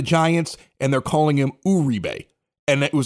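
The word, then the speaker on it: Juan Uribe: of our Stadium we've always known him as Wan rebe he goes to the Giants and they're calling him Ube and it was like wait wait he changed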